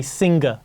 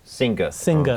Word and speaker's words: singer: Singer I think in If It's British English We wouldn't pronounce The R so much so we say Singer Singer โอเค อ ฮะ ยัง